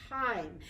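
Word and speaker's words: thyme: this is some wild time and this is not time t-i-m-e oh no boys and girls this is spelled t-h-y-m-e and what this can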